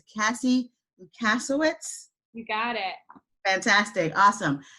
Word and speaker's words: Lusawicks: Today I'm trying to get her last name correct, so the pronunciation of it. It's Cassie Lusawicks.